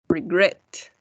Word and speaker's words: regret: We only double the consonant when the stress is in the last syllable. For example, refer, prefer, regret.